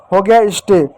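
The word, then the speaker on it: stay: एस टी ए वाई एस का आधा स होगा टी का ट होगा ए का ए की मात्रा होगा स्टे इस बात को याद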